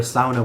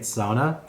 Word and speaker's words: sauna: And if it sounds like I'm saying it weird, if you're used to hearing it sauna, I used to say sauna, and that's what most people still say. And if you want to say it that way, say it however you want.